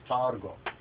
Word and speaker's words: Targum: white Jewish pronunciation says Targum. According to the Ethiopic, we say tergume, but most Ethiopians today will say tergum, but actually this is a gwe, tergum, right?